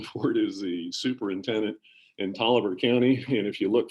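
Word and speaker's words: Taliaferro: is the superintendent in toliver county and if you look for toliver county it's not spelled the way i just pronounced it but that's how you pronounce it but imagine an entire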